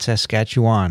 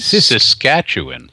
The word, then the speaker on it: Saskatchewan: Saskatchewan? Oh, not Saskatchewan, huh? Pronounced Saskatchewan. Saskatchewan. She gave us a phonetic pronunciation.